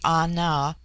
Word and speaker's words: Ana: The word ana pronounced broadly ana corresponds with our plural men.